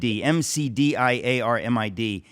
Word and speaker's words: McDiarmid: It's spelled D-I-A-R-M-I-D, M-C-D-I-A-R-M-I-D.